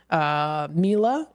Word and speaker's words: Miele: He has a German-made Miele, so it's pronounced Miele. Thank you so much, because it looks like it spells meal, and he put in parentheses here, pronounced Miele, so thank you.